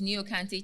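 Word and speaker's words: Nii Okantey: Like I said, my chambers is Niokante Chambers. It's spelled N-I-I, and then another word, O-K-A-N-T-E-Y, Chambers.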